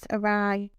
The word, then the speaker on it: awry: That's awry.